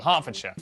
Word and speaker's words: Hertfordshire: ER is pronounced R. Berkshire, Clerkenwell, Hertfordshire.